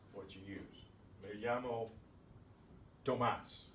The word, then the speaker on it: Tomás: We have an exception to this ordinary stress rule in Tomás. because otherwise it would be Tomas, next to last syllable. It ends in an S, right? It ends in a vowel. Nombre is where the stress is. But Tomas gets the stress there, and in writing we